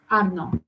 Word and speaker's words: Arnaud: They pronounce it the way you talk, Arnaud.